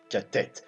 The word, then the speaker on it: Tête: Tête. Ah oui, d'ailleurs, à ce propos, j'ai demandé à Miduki et il m'a confirmé. Donc ça se prononce bien tête.